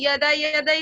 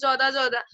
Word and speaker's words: যদা: Aunty, গীতাতে যেরকম রয়েছে না ইয়াদা ইয়াদাই ধর্মস্থা, তা কিন্তু আমরা তো যখন লিখি উন্তুজ দিয়েই লিখি তো, যদা যদা, মানে যেটা উচ্চারণ হওয়া উচিত যদা যদা হওয়া উচিত, কিন্তু আমরা বলি ইয়াদা ইয়াদা।